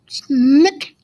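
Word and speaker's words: Sinek: and uh ted talks this guy named simon nick that's how you pronounce it but he's got this great thing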